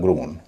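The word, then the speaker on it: grown: एन लगने पर उसका उच्चारण होगा ग्रोन।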